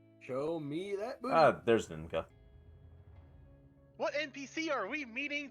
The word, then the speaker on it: Ninka: Ninka. Oh, N-I-N-K-A. Like ninja with a K instead.